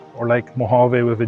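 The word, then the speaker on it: Mojave: The J is like the word jalapeno. You don't say the physical J, it's more of an H sound.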